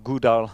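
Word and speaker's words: GDAL: you know probably gdr gouda as you pronounce it and ode here which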